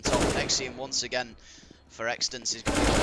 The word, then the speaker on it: x6tence: They just respelled it and just said it's pronounced this way. x6tence. So it's just x6tence, as in someone's existence.